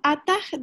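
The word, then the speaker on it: אתה: Evet, ata, yani H telaffuzu biraz zor bir harf olduğu için biz ona ata diyoruz.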